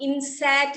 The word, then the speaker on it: INSAT: इनसैट का spelling देखो किताब में, INSAT, इनसैट कहते हैं, इनसैट, INSAT, इनसैट, ठीक है।